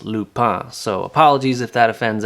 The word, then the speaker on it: Lupin: to pronouncing it as lupin which is a flower that we have here in my home province of prince edward island whereas in france it's actually pronounced lupa so apologies if that